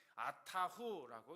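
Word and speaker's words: אַתָּה הוּא: 여기서 주는 홀로 하나님이시라고 하는이 단어는 아타후라고 이렇게 발음하는데요.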